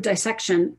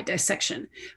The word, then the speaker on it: dissection: I pronounce the word dissection as though it has a long I, dissection.